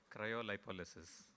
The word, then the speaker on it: Cryolipolysis: Cryolipolysis. Gadbad kaya, ye bhi gadbad hai. There is actually a far cleaner pronunciation which I'm going to have the gentleman tell you. Cryolipolysis.